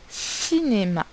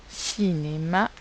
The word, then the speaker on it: cinéma: placer notre croix dans la case dans la syllabe où l'on entend le son donc alors je vous laisse faire c'est le mot cinéma cinémas ont mais pose en thrace nos carré